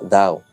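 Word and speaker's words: 道: vía Senda o camino el mismo carácter también se pronuncia dao en mandarín y su uso más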